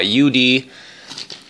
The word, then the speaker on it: Youde: So I keep saying Youde, but I don't know why. Youde Technology is how you pronounce it.